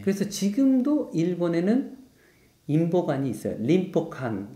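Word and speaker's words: 隣保館: 림포칸 이렇게 돼요.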